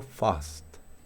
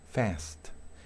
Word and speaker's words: fast: en inglés británico digo fast fast verdad en inglés británico en inglés americano perdón es fest inglés británico post inglés